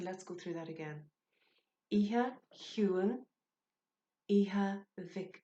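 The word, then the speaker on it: Oíche Chiúin: I'm hoping that you know the melody of Silent Night, but I am going to go through the pronunciation. Okay, so Iha Huan.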